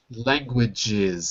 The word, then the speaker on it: languages: Languages. So you have to add the extra syllable there.